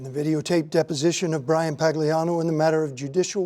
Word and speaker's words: Pagliano: full name Brian Pagano thank you Mr Pagano am I pronouncing that correctly uhhuh okay thank you have